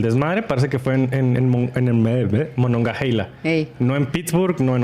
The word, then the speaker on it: Monongahela: Se escribe Monongahela, una H entre la A y la E, pero se pronuncia Monongahela.